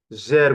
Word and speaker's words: sehr: this one, okay, okay, sehr gut, danke, sehr gut, danke. Look at how I I read the S. I read the S like Z.